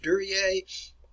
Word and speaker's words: Duryea: The name is pronounced Duryea.